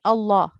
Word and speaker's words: Allah: a reminder to everyone we only pronounce lam with a thick sound in lamul jalala so in allah so the previous letter if it carries a fatha or a dhamma the allah will be pronounced with a tick sound if it the previous letter carries that kasra it will be pronounced with a thin sound so the rest of